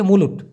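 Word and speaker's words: mula: বের হয় সেটা হচ্ছে মুলুট ক্লিয়ার হলেন তাই না আরো অন্যান্যগুলোতে স্পেসিফিক নাম আছে মুলা মুলা যেটা বাংলাদেশে আমরা বলি মুলা খাইলে অনেক পাদ হয় সেই মুলা সেরকম উচ্চারণ হবে কিন্তু মালয়েশিয়াতে যখন আপনি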